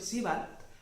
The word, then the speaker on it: Sebald: Winfried Georg Siebald, tal y como se pronuncia más o menos en alemán, fue un escritor de